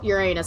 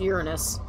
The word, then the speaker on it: Uranus: rectum watching probe statically not supposed to be pronounced your your anus it's supposed to pronounced Uranus okay that's just the way